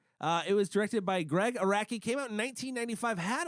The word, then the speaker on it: Araki: It's just spelled how it sounds. Yeah, just Oh, say yeah, it like sure. It that. is spelled how it Just sounds. like, Iraqi. just like if you met a dude from Iraq, he'd be an Iraqi, Pretty much, yeah.